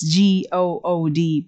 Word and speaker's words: good: It's G-O-O-D, but you say that, you pronounce it as good. And what's the middle vowel sound there? Ooh. It's a very short ooh.